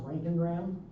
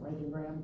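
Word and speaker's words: roentgenogram: That is pronounced Rankingram. Don't try to say it unless you're going to say Rankingram.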